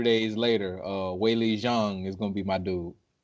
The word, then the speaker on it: Weili Zhang: We're talking about MMA, so Weili Zhang. I've never had an opportunity to say your name again. I just said it twice. Weili Zhang.